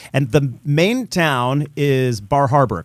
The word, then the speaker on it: Bar Harbor: which which is pronounced bahaba and so uh yeah so you know because the r is often dropped yeah yeah in meain yeah that region right bahaba and so uh so